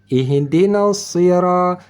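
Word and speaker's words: اهدنا الصراط: dimengerti Alhamdulillah ihdinasiratal mustaqim di sini ro ada di depan ro ada Alif tanpa ba tanpa baris artinya ini Alif menjadi Mad tanda panjang kita baca maka kita bacanya ihdinasira ihdinasira dan satu lagi tho ini th thu bukan ta seperti Tain ini thu ta dibaca tebal yaitu terangkat pangkal lidah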